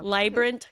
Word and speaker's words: Leibbrandt: You now have your own business, Maika Leibbrandt. Vibrant. Rhymes with Leibbrandt? vibrant. There you go. Leibbrandt Consulting.